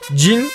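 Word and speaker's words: 人: Saian est le nom de la race des utilisateurs de cette technique et le kanji Ito se prononce jin lorsqu'il est utilisé pour décrire une nationalité, une ethnie ou une profession.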